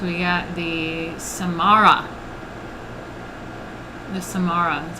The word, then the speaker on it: Samarra: are we at we got the samara the samara is how you say it all right i